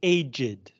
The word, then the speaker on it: aged: we pronounce this word aged you pronounce the E to let people know that you're not talking about becoming old you're using this word